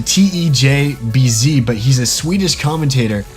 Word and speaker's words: TeJbZ: YouTuber named Tes and you pronounce it tejbz but he's a Swedish